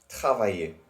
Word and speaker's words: travailler: with the same, no, notice how the ER ending is always pronounced the same way as E accent. That is like the A. So in brackets they have EY.